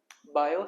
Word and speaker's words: Biot: है lecture number two और इसमें हम पढ़ेंगे बायो सेवट ल इसमें टी साइलेंट होता है दो साइंटिस्ट है बायो और